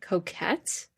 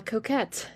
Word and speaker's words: coquette: And um another favorite of mine has to be um God, I'm going to butcher this. It's like coquette. Yeah, is that how you pronounce it?